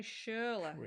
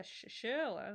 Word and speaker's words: Schürrle: Andre Schürrle is how you pronounce it. Yeah, Schürrle.